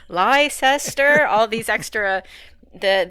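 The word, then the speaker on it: Leicester: I know it's like liester all these extra the the Brits are great for all these extra silent letters in in words I think it comes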